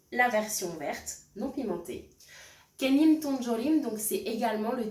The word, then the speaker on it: 깻잎: On restera sur une trame similaire, donc lecture-prononciation, explication-traduction et écriture. C'est parti. Ilbon. Kenni. Kenni, donc ce sont les feuilles de sésame.